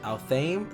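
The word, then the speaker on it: Athame: Kronya has I'm not sure what the proper pronunciation is, but I looked it up and it said Althame, so I'm gonna be saying Althame.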